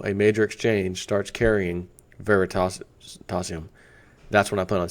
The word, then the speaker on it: Veritasium: ver veritasium quickly and I keep calling it verium just FYI it's Veritas veritasium is really how you pronounce it but if you